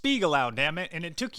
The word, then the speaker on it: Spiegelau: It's pronounced Spiegelau, damn it, and it took you 5 minutes to look it up on the internet.